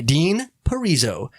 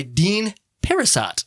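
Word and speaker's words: Dean Parisot: directed by dean parriso i'm so glad i looked up how to say his name and i don't know why i did because at first i was going to say i'm like it's directed by dean parasot that's how it looks like it's spelled i don't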